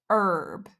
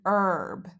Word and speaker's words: herb: example words that start with a silent h honor our herb we would say an on an hour an herb or words that start